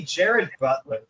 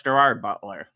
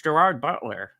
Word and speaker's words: Gerard Butler: It's Gerard Butler. It's not Russian. It's It's Irish. No. No. It's pronounced Gerard. Butler, not Jared.